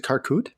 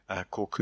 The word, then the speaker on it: Korkut: How do you pronounce the illustrators at Karkut? Korkut, Yeah.